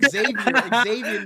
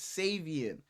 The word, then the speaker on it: Savion Williams: I remember I thought his name was fucking Xavier Williams the entire offseason. And it's like, bro, you've been saying it wrong this whole time. It's Savion. Yeah.